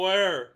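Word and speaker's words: Weyr: Or where? Yep. It's pronounced where, as in where are we?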